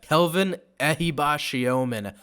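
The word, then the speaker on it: Kelvin Ehibhatiomhan: Kelvin Ehibashiomen. I almost said it the wrong way, but I've been working on this pronunciation.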